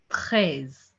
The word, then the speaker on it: treize: 13 is pronounced as treize, treize, treize, treize, treize.